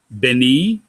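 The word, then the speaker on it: בְּנִי: Now, this can be pronounced three different ways. Beni, which means my son. B'nai, which means sons of something or someone. Or B'nai, which is my sons, plural.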